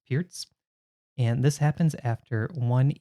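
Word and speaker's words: Pirc: pierce defense this is sometimes called the perk defense but i think it's correctly pronounced pierce and this happens after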